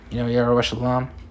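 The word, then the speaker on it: ירושלים: Yerushalayim. If I'm mistaken, that's how you pronounce it in Hebrew.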